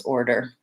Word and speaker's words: order: particularly difficult for them so thinking about this as having an O and then an O and then Derr Derr and you you do have the vocalic are there I kind of like to think about it as going right from the D into the earth der so here's how I